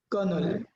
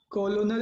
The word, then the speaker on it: Colonel: अब इसको क्या प्रोनाउंस करना है? कर्नल। कॉलोनल नहीं पढ़ेंगे इसको हम, कर्नल।